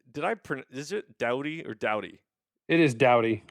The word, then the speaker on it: Doughty: all of hockey and so to have him here at least everyone now knows how to pronounce my last name in la orange county just because our star defensive men for the past eight years ten years has been a dowdy so it's kind of